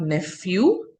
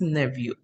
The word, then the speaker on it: nephew: It is not nephew. P is silent over there, so it is nephew.